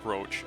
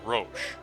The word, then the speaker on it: Roche: book series, into English, where the man's name, who's called Roach, should actually be Roche, but the horse is just called Roach.